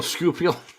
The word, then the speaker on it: Schuylkill: every time he drives, down the Schuylkill into Philly, just The Schuylkill? the Schuylkill. No, Schuylkill. It's I'm called even the more Schuylkill. lost. Wow. I can't spell it.